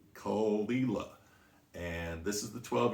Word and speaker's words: Caol Ila: what brian cox says brian cox calls it cool isla now it does come from the island of